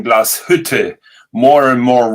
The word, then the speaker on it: Glashütte: You're spelling it now with sh, which is wrong. It's Glashütte. Glashütte.